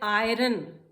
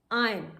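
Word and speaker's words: iron: No, this is रॉन्ग, this is called आयरन, आयन। आर is silent, are नहीं बोला जाता, आयरन नहीं, this is आयन, आयन।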